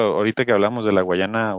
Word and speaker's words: Guyana: No, no creo que haya Porque ahí, por ejemplo, ahorita que hablamos de la Guayana, o Guyana, ¿cómo se dice? Francesa, Guyana Francesa.